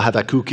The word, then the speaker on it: Habakkuk: in the book of habakkuk so I I want to make that clear I had that cooky it's just the Hebrew pronunciation of the name but the second reminder